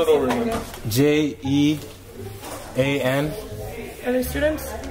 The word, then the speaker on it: Jean: stud spell it over j e a n are they students like Jean like jeans without the S Andy Jean what's your